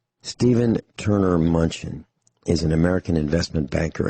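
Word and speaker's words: Mnuchin: is not headed for a recession says Steve munchin treasury secretary makes extraordinary claim in the middle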